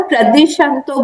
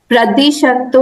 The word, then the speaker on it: प्रद्विषन्तो: हाँ, आप लोग सब लोग ना प्रद्विषंतो बोल रहे हैं। वो को यहाँ प्रोनाउंस करना है, प्रद्विषंतो, प्रद्विषंतो, प्रद्विषंतो, प्रदिशंतो नहीं। वो उसमें प्रदिशन्तु।